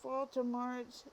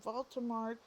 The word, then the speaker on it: Voldemort: name correctly the name Baltimore has a French origin oh and the T at the end of it the T at the end is silent excuse me um the